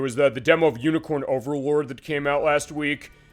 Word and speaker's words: Unicorn Overlord: the the demo of unicorn Overlord that came out last week I said it wrong the first time they announced it which is unicorn overload and I was like